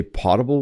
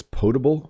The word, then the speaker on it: potable: You need drinking water, or I call it, I think I say potable water, but someone told me it's potable water.